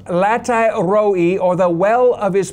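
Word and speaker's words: לחי ראי: drew the water from in the Hebrew is pronounced latai roi, or the well of his presence. 那么这口井呢，在希伯来文的意思 latai roi 就是呢神同在的意思。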